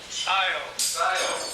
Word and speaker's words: Scio: How do you pronounce that? Scio, Oregon.